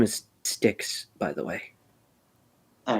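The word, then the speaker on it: Styx: My name is Stixs, by the way. All right. Uh, it is spelled s t yx by the way.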